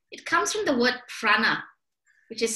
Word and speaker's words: prāṇa: It comes from the word prāṇa, which is spelled P-R-A-N-A. Prāṇa means life force.